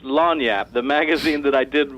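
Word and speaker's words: lagniappe: Louisiana and it's pronounced lanap the magazine that I did work for is called lanap it's a Cajun French term and it just means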